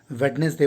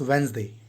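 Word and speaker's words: Wednesday: कि क्वेटलेट है, लेकिन जिस तरह से हम लोग वेंसडे में डी का उच्चारण नहीं करते, बहुत लोग वेडनेसडे बोल देते हैं जो असल में गलत होता है, इट्स वेंसडे। उसी तरह से इनका नाम है लम्बार्ट अडोल्फ जैक्स क्वेटले।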